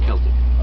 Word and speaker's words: Celtic: And one of the questions I always get in an argument with friends of mine is it's pronounced Celtic, not Celtic? Celtic.